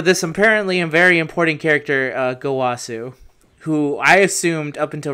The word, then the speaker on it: Gowasu: We got the teachings of good and evil, Gowasu and Zamasu. Is that their names? Is that how you pronounce Gowasu? That's correct. All right. Gowasu, yeah.